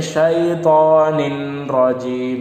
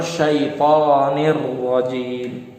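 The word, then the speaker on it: الشيطان الرجيم: Seharusnya orang yang nggak paham tentang bahasa hukum tajwid, dia akan membaca syaitonin rajim, padahal salah. Yang benar syaitonir rajim.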